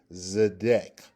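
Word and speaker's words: צֶדֶק: That's the one that is pronounced Zidquateca. Zidquateca. The second one has 3 letters. Do you see it? That is Zedek.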